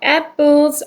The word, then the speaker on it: apples: Apples are on the table. Apples. 이거 쌍 비읍 발음입니다. 애플이 아니고 apples. 마지막에 z 발음 들어가야 되고요.